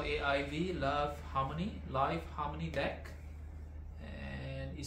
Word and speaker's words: LAiV: here from China so this is live Harmony it's spelled as l a i v Harmony and this is